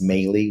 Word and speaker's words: Melih: Um, my name is Mey, which is spelled M as in Mary, E is in Edward, L is in Larry.